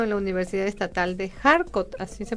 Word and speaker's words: Kharkov: De 1980 a 1981 realiza estudios de idioma ruso en la Universidad Estatal de Kharkov, así se pronuncia.